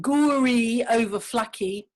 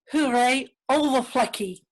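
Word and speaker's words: Goeree-Overflakkee: So Goeree Overflacky, that's the English pronunciation, is pronounced Hooray Overflacky.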